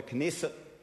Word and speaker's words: Knesset: the Spector of the knesset I believe the K is actually pronounced uh with um 30